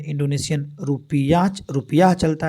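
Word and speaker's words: rupiah: Indonesia में Indonesian रुपिया रुपिया चलता है रुपया इस तरह से स्पेलिंग है आर यू पी आई ए एच रुपिया इंडोनेशिया में और उसके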